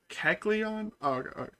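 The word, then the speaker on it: Kecleon: Keleon. Okay. Thank you for spar sparing me. I almost said Ke. Actually, guess I would have said Kleon. Yeah. Um, no, this is Keleon.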